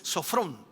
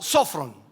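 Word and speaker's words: σώφρων: La palabra prudente aquí se traduce del griego que es sofrón o sofron, que sería la forma correcta de pronunciarlo, la cual hace referencia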